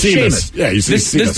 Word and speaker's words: Seamus: It's like Seamus. There is no H in that doggone name. But everybody knows that name is Seamus.